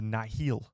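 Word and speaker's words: Nihil: were these people called the Nel or the Nile as I call them because it's spelled Nile and i h i l I think Nile uh but some some of the audio books they call them either the Nile or the nahil we're going to go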